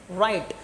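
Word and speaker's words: write: यहां देखो आर से पहले है ना? आर से पहले आ रहा है डब्ल्यू। इसलिए डब्ल्यू यहां क्या हो जाएगा? बोलने में उच्चारण करने में उसको साइलेंट करना है। बाकी लिखने के टाइम में तो लिखना ही है कि डब्ल्यू आर आई टी राइट। पढ़ेंगे। राइट लिखेंगे डब्लू लिखेंगे डब्लू से ठीक है ये और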